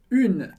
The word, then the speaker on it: une: Perceba que tem o som do U, do biquinho, bem forte. Une. Mas eu não falo o E do final.